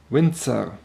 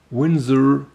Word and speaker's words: Winzer: consonant than in english so it would be windser but since the video is in english i liked it that way and please feel free to stick to that much softer windsor pronunciation now let's start with the specifications the